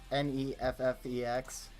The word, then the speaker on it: Neffex: This is Neffix. I think that's how you say it. It's Neffex. It's kind of non-copyright music.